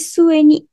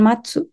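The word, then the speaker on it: 末: Yang ketiga ada nani-nani sueni. Teman-teman kalau kalian perhatikan kanji sueni ini sama dengan kanji matsu ya. Jadi tapi ini dibacanya sue, jadi bukan matsu, sueni ya.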